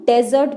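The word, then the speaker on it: dessert: लोग इसे भी डेरिवेटिव्स लेकिन डेजर्ट इसकी गलत प्रनंसीएशन है इसकी सही प्रनंसीएशन है डिजर्ट डिपॉजिट टिकट कोट को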